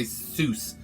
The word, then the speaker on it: Seuss: you're like I don't care I'm gonna say Seuss it's sois I like dr.